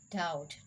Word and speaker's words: doubt: in these words and rule number two b is usually not pronounced before the letter t like b is when before the letter t it will not be pronounced it will be silent doubt doubtful settle that okay